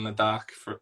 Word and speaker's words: Ladakh: Ladakh.